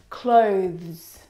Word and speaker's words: clothes: Clothes clothes. Clothes. Now, the reason why it's especially difficult is because of the two final consonant sounds, the th and the zz plural sound.